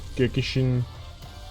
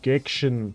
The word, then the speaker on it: Gekishin: to pronounce it because I want to say gecki geekshin squadra but it's gekkishin always forget the i.